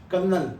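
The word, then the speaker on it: colonel: है कर्नल की spelling कर्नल सी ओ एल ओ एन इ एल ये भी कर्नल है इसमें कहीं पे आर नहीं है पर हां इसको यही पढ़ते हैं सी ओ एल ये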